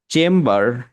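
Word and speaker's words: chamber: আর এইখানে চেম্বার, চেম্বার কেন এখানে বি সাইলেন্ট হচ্ছে না, বি প্রোনাউন্স করতে হচ্ছে?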